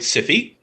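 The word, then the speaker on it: Syfy: Awesome, and thank you for calling it Siffy. Until they change it back to what it needs to be called, that is how that name is pronounced.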